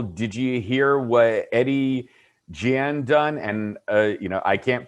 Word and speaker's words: Gein: The correct pronunciation is Gein, as in G-E-E-N.